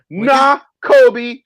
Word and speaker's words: Nakobe: Nakobe Dean. Let me spell it for you. NK. It's like Kobe, but nah in front of it. Nakobe Dean.